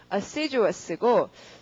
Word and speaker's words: assiduous: 그 다음에 예문 읽어보시면 발음은 assiduous고 동그라미는 어디다가 seed에 하고요.